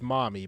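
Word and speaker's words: Mami: anything about birthing babies saying it's pronounced mommy but it's m-a-m-i I don't know I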